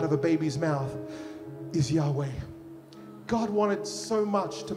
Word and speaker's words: Yahweh: mighty Army you know this is how you pronounce Yahweh ready yah y Yahweh means breath you know